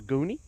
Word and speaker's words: Goni: We don't pronounce the N, he says. He said the N is silent, so Goni.